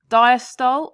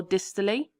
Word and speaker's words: diastole: Now people pronounce this differently, so I'm going to say both diastole or dystole, atrial systole or atrial systole, and ventricular systole or systole.